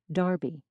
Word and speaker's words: derby: Although this sound has mostly died out in the United States, it's still heard in England in words like clerk and derby, which are pronounced something like Clark and Darby.